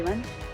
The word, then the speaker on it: Lim: Yeah, Lim. Oh, you say Lim. That's an Americanized pronunciation. I'm used to saying Im in Korean, actually.